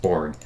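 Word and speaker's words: Borgne: in lake um borg b-o-r-g-n-e i think it's pronounced board um do we have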